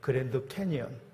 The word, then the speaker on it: 그랜드 캐니언: 자, 우리가 발음을 잘해야 되는데 미국의 그랜드 캐년이라는 곳이 있어요. 자, 지구의 속수를 보여주는 대역곡 그랜드 캐니언.